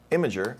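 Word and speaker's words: Imgur: see what about um I don't know how you pronoun you pronounce it imer imager imager yeah that's another one imager congratulations to Allen um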